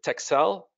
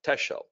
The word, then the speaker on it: Texel: a place called uh Texel actually it's not pronounced that way I think it's pronounced Tel tesel tesel something like that but it's spelled te XEL and going to be